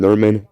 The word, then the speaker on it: Nurminn: Malice Gronoka and Norman Ailsire are the cousins. Okay, and these names are spelled. Malice is spelled Malys, and Gronoka is spelled Gronoka.